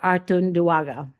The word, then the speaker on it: Artunduaga: Artunduaga. Welcome. Perfectly pronounced.